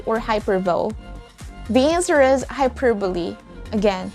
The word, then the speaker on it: hyperbole: fourth grade or fifth grade how do we pronounce this word is it hyperbole or hyperville the answer is hyperbole again hyperbole it's not hyperbole and that's the end of today's very short